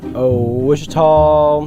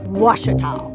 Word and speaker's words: Ouachita: Back in Texas, everybody pronounces it Wichita, but really, it's Ouachita. Washita. Washita. How would you pronounce it? Washita. Washita. It's Ouachita Baptist University. Get it right. It's Washita, people.